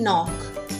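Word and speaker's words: knock: द के इन नॉक is silent. It इज़ not pronounced. Right to other words with a silent के. नॉक में के जो है वो साइलेंट है. पहला वाला के हमने नहीं पढ़ा, सिर्फ नॉक पढ़ा उसको.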